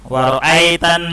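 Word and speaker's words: وَرَأَيْتَ: Wa ra'ai, ya, bukan bacanya ai, ya. Wa ra'aitan nasa, salah, ya.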